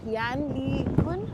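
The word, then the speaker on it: Yann LeCun: I don't know if you know about Yan Lee Kun. I think that's how his name is pronounced.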